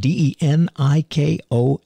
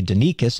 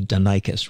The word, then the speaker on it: Denikos: And it's not Tony Denikos, it's Tony Denikos, right, Tony? That's right. I said it wrong for so many years, and one day you came up and said, just to let you know, it's Denikos.